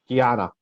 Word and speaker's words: Guiana: i forget how to say it can you guyana yeah you said it right you said on another video and got it right so okay yeah the once in british guiana it sold for like eight million seven million